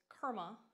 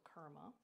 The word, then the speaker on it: Kurma: Turtle in Sanskrit is Kurma. So think of karma, but instead of K-A, it's spelled K-U, so Kurma.